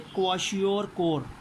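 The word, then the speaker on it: क्वाशियोरकोर: इसको प्रोनाउंस करेंगे क्वाशियोर-कोर।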